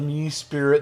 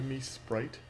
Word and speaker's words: Mesprit: The theater major says pronunciation depends on who's saying it. No, the English major says that it's the me spirit, the us elf, and the you pixie. You mean the me sprite?